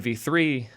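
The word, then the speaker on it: Vite: correctly they've changed how it's supposed to be pronounced before much like Dino which used to be Deno it was V but V is correct now zustand I I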